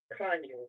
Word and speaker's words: Conyers: I mean, we do a lot in the Atlanta metro, but I'm not too familiar with, is it Conyers? Is that how you pronounce it? Kanye, it's like Con 30 minutes outside.